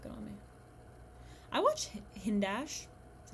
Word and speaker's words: Hindash: it would look good on me i watch hindash that's how you say it occasionally but i'm